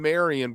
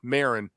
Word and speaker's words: Marin: But when I'm there, I would love to see Morning and Marion played live. Marin, I always want to add a syllable to it.